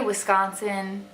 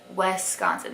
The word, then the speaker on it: Wisconsin: I say Wisconsin like Wisconsin. That's how you say it. That's the right way to say it. But a lot of Southerners will say Wisconsin, like almost like out west, like west without the T.